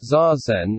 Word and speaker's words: zazen: as the book progresses pronounced zazen each syllable is accented equally for a discussion of